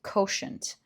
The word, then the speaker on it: quotient: Oh, it's pronounced koshant, right?